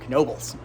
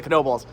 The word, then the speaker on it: Knoebels: And what is a Knoebels? Come to Pennsylvania, find out. They're pretty awesome. Why are you pronouncing that K? It's silent.